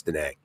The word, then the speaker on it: Da Nang: Actually, I thought it was Da Nang, but I was pronouncing it like to be more Vietnamese. But no, it's Da Nang, I guess.